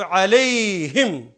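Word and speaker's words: عليهم: अब देखिए ये कलिमा मग़दूब अलैहिम, अला का मतलब पर और हुम उन सब पर। लेकिन या की वजह से इसको प्रोनाउंस करेंगे अलैहिम ज़ेर के साथ, ताकि अलैहिम, या के बाद ज़ेर ही आएगी।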